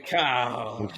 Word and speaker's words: Picard: Like she may be the first person to pronounce Picard's name with French flair. There's no D. There's no D on it when she says it.